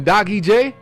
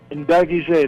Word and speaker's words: Ndagijé: Ndagijé, pronounce it for me again. Ndagijé? Ndagijé, that's correct.